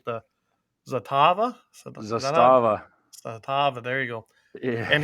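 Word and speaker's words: Zastava: He was using let's see if I can pronounce this right. The Zatava? Zatava, there you go.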